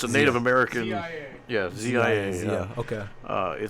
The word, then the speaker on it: Zia: What is the how do you pronounce it again? A Zia? What did you? It's a Zia. So it's a Native American. ZIA.